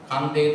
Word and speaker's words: Kandy: Not C-A-N-D-Y, Kandi, but K-A-N-D-Y, Kandi.